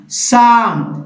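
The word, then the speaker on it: psalm: तो दोस्तों यहाँ P नहीं पढ़ना है, PN से, PS से, PS से, तो क्या पढ़ना है, N से पढ़ना है। तो न्यूमोनिया, साम या साइकोलॉजी लिखेंगे जरूर,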